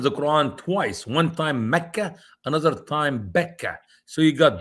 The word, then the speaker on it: Makkah: and you just left Makkah which is how many Muslims pronounce the word for Mecca. Makkah.